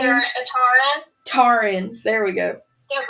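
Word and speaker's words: Taryn: Him and Tara, or however you pronounce her name. Taran.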